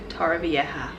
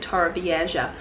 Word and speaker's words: Torrevieja: the Hotel Playas de Torrevieja. I learnt that from the taxi driver, that's how you pronounce it, because I was calling it Torrevieja.